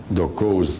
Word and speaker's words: Doko: Dokos with an S if you want to. Dokos, phonetically what they call them, Doko.